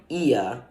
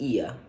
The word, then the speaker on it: Oia: was in was called IA it's spelled like oia but it's pronounced IA uh the first town